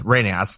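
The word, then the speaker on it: Rheneas: friend he says that the correct way to pronounce Renaissance name is renas like like Russian and Morris said it but you know to make it easier we're just gonna call him uh Renea so the way we're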